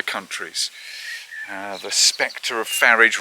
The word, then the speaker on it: Farage: uh the Spectre of farage rhymes with garage you know an old